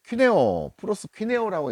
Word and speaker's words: 프로스퀴네오라고: 예배는 4352번입니다. 헬라어 프로스퀴네오라고 읽습니다.